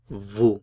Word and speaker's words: vous: use the formal U and that is vu vu Vu notice I'm not pronouncing the consonant at the end the pronunciation is simply vu vu vu so U formal